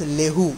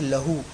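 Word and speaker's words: لَهُ: Over here we will not write as Lehu, we will write as Lahu, because Lehu is a wrong pronunciation.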